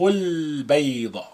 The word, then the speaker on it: البيض: Ba, after the L of the, that ba is a moon letter, therefore we retain the sukun on the lam.